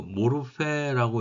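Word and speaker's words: μορφή: 써있는 대로 모르페라고 읽습니다.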